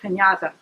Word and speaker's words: Panjata: Well, that's my maiden name is Panjata, and in Croatian it's pronounced Pinata. Pinata.